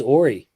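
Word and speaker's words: Horry: Uh are you related to Robert Ory lol? Yeah that's my that's crazy. So, I I pronounced it correctly then. It is Ary, you know.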